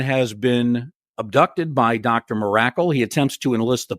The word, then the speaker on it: Mirakle: I'm trying to remember the pronunciation. Correct me if I'm wrong. Dr. Miracle. Dr. Miracle.